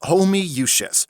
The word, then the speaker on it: Homoousios: It's pronounced homoousios. How? There's 20 O's. It's Latin.